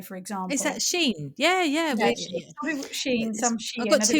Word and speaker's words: Shein: It's they're getting away with a big company called, have you heard of, I think it's pronounced Shein.